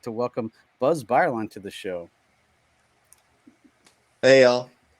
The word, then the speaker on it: Bireline: So my last name is Bireline is how you pronounce it. I think I should just take the E out and people would figure that out.